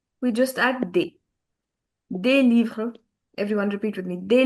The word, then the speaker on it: livres: The first thing is that S in the end is never pronounced in French.